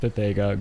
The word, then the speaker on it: Pepega: No, it's pronounced Pepega.